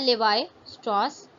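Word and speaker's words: Lévi-Strauss: इसको प्रोनाउंस करने का तरीका है लेवाई स्ट्रॉस।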